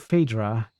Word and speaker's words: Phaedra: You believe Phaedra is the right pronunciation, and you got it right. Yeah, I think it's Phaedra, yeah.